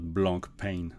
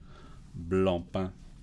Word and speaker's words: Blancpain: reviewing blonde pan watches you pronounce it blump and not Blancpain okay that's really getting